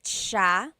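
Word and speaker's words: siya: I means you are nice and then ma sha he or she ma sha a couple things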